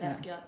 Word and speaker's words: Basquiat: Okay, and you know that artist, and I'm feeling embarrassed that I don't know how to pronounce his name. Basquiat? Mm-hmm. Is it Basquiat or Basquiat? Basquiat, you said it right.